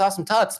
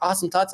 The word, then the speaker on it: Awesome Tuts: awesome toots but you know actually it is pronounced awesome tuts because a lot of people especially for me i say they're like awesome thoughts i'm like no it's awesome too so i